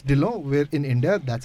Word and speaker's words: Dhillon: And we just had a bit of a side chat about how her last name gets pronounced. It's Dhillon.